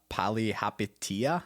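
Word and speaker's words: Palihapitiya: other gentleman's last name so it's chamath uh poly hapitia i think and some people will call them like everyone just calls them jamal okay bought 125 000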